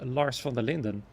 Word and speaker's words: Lars van der Linden: I believe it was Lars van der Linden. Which is also a Dutch name, by the way, and I pronounced that one correctly too.